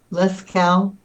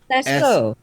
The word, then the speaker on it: Lascaux: Lascaux. Spell it. So I wrote it down, but I don't know how to say that word at all. Lascaux.